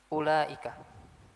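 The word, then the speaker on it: أولئك: Contoh yang lain misalnya kata atau kita hapus dulu sebentar kata ulaika. Nah, ini perhatikan ya. Di sini banyak masih banyak yang bacanya ulaika. Enggak. Wau ini enggak dibaca. Wau ini tidak dibaca.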